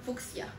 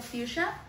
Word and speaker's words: fucsia: Algunas personas le llaman fucsia. No sé, no me gusta tanto esa pronunciación. En México se pronuncia fuchsia. Y a algunas personas le dicen fucsia.